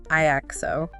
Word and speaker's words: IAXO: IO okay say that again how do you pronounce that iao and specifically we're looking at the baby iao